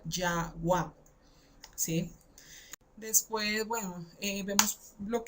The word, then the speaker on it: Yahweh: Una yod, una hey, una waf, una hey que se pronuncia Yahweh, ¿sí?